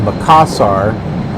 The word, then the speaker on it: Makassar: Okay, so that's how it's pronounced, Makassar.